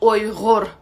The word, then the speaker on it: Uyghur: And in Chinese, it is pronounced as Wei Huar, and we call it, in our language, Uyghur.